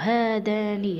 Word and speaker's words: هذان: رغم أنني أقرأ هذان هذين فليست هناك هاء بجانبها ألف، يعني انعدام الهاء تنطق ولا تكتب.